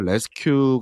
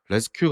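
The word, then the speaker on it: Resque: 작업을 할 때 만약에 레스큐 있었다면 클라우드 클라우드를 만든 대신 그냥 레스큐를 썼을 거라고 얘기하기도 했습니다 여기서 레스큐는 뭐 구조하다 그 발음을 그냥 도용한 거지 갖다 쓴 거지만 레스트 이제 뒤에는 Q 이죠 그래서 루비에서 레디스 기반으로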